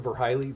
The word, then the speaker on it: Verhiley: Hello, would you spell your last name and pronounce it for the record? Last of Verhiley, V as in Victor, E-R-H-I-L-E-Y.